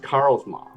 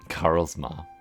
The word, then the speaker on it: Karls Maw: It's It's actually pronounced Karls Maw. Karls Maw.